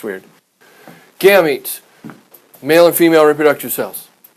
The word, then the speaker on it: gametes: plant fertilization is the union of male and female gametes, I think that's No. how you pronounce it. No. Gametes? Long E's. Yep, gametes.